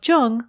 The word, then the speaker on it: Jung: alexa play speaking of jung on apple podcasts just be sure to pronounce jung with a hard j i'm laura london and